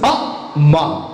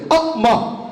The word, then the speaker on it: amma: Now, there are two syllables. A, ma. Am I right? You don't raise one and lower another. You don't stress one and leave another unstressed. A, ma.